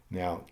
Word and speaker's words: no: i'll review negative usage in the imperative mood now the negative in spanish is typically expressed by